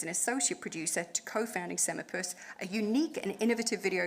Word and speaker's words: Semaepus: So Rich is a co-founder of, and I did ask him multiple times before he came up on stage how to pronounce this, Semipus Games.